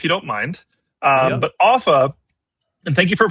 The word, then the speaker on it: Offa: Um but Offa and thank you for pronouncing it correctly. Sometimes, people say Ufa or Alpha or something, you know, something crazy.